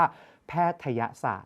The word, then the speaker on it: แพทยศาสตร์: แพทยศาสตร์ และ ลูก นะ ไม่ ใช่ แพทย์ศาสตร์ เอา ง่าย ๆ เลย ลูก ถ้า เกิด อ่าน ว่า แพทย์ศาสตร์ ตัว ย ยักษ์ ต้อง มี เครื่อง หมาย อะไร อยู่ บน ยอ ยักษ์ จะ คาด จะ มี ลูก แต่ อัน นี้ ไม่ มี เรา จึง ต้อง อ่าน แบบ เรียง พยางค์ ว่า แพทยศาสตร์